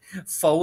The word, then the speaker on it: faux: it is pronounced follow that x is silent now i'm going to